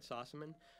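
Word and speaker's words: Sossamon: Here's Shannon Sossaman, who I always mispronounce her name even to her, so she'll forgive me, but I did say it right, Sossaman.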